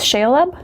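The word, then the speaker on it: Shelob: my second negative is I think it's shale up that's how you say it shale up Slayer and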